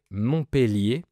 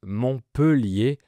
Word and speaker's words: Montpellier: Théoriquement, on doit prononcer Montpellier parce qu'il y a deux lettres L après le E. Mais la majorité des gens prononcent Montpellier, même certains locaux.